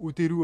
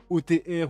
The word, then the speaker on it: Oteru: the Flame, je enfin le nom du perso se prononce comme ça en japonais, ça je le sais. Donc maintenant je pense que c'est mieux de le prononcer comme ça plutôt que OTR ou autre je sais pas quoi comment tu veux le dire.